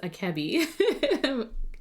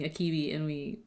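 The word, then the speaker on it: あけび: Also, I found out yesterday it's pronounced akebi because we hear someone saying akibi and I just mimic.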